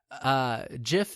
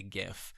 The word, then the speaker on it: GIF: GIF is spelled J-I-F. GIF is G-I-F, and that's how it's spelt, and that should be how it's pronounced.